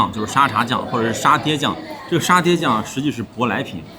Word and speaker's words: 沙茶: That's interesting Look In Southeast Asia, it's called satay sauce Satay But this cute The pronunciation in Minnan dialect actually corresponds to the word "tea" Tea is called "tay" There are two names